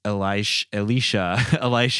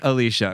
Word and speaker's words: Alicia: And finally, Leighton Meester as Elisha, I guess. How did she say his name? Alicia. Right. It's Alicia and Elijah. Her brother's name, I think, is Elijah.